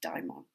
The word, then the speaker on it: daemon: the Greeks would call, the daemon, or sometimes pronounced daimon, and it's nothing to do with demons.